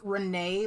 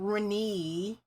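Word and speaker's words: Reneigh: It's Renee like nay, not Renee.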